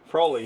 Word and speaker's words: Froli: She has back issues, which is one of the reasons we're getting Froli. Froli rhymes with We're getting a holy.